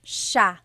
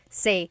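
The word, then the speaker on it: siya: It's sha sha. The s i y combination makes the sh sound in the gallog. Some regions say sa but in the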